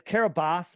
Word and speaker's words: Kiribati: And it's Kiribati, but I'm going to call it Kiribati because that's how it's spelled. And all the people in Fiji can be mad at me.